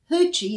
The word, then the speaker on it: Yuchi: Hoochie is spelled Yuchis.